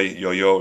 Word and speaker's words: IOIO: today has uh a picture of the a toy yo-yo you know yo yo um uh which I think is a good idea because it uh it helps people are infamiliar with figuring out how to say the name of this um and uh the